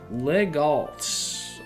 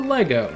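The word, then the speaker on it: Legault: Legalt or Lego depending on how you want to say his name.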